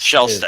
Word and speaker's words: Shelstad: is Shelstad. how All it's right.